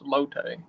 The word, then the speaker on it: latte: Daddy keeps saying it wrong. It's lotte.